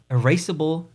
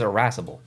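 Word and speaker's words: irascible: Erasable wood. I don't know how to pronounce that. Arassable. Arassable. Google says irassable.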